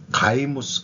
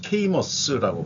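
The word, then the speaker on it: Caymus: 어 몬테스 어 가이무스 케이머스라고 발음하네요.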